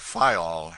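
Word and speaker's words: Fayal: of the group F the people there pronounced it fol and put the accent on the first syllable we anchored in the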